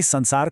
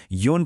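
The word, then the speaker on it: 四: Number चार र सातलाई हेर्नुस त यिनीहरुको दुई वटा उच्चारण छ। चारलाई सी पनि भनिन्छ योन पनि त्यस्तै सातलाई सिची र नाना दुवै भनिन्छ।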